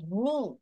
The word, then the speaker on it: knee: KNEE, এটা pronunciation করে থেকে হচ্ছে এন থেকে হচ্ছে KNEE, নি।